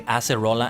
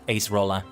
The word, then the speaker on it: Acerola: then to base it sometimes on the Japanese pronunciation that's why I say acerola and not ace roller so he's one of